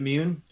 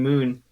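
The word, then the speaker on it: Muun: is it mewn yeah i realized i was pronouncing it wrong in my head the whole time i read darth plagueis and then i had to like adjust my mental pronunciation of the word immune because i was saying moon like the like the celestial object yeah it's weird to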